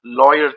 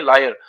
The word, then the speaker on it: lawyer: तो बदरुद्दीन तैयब जी एक Indian लॉयर थे। ठीक है जी, लॉयर थे, कई लोग इनको प्रोनाउंस करते हैं लायर, लायर नहीं, इसको लॉयर बोलते हैं।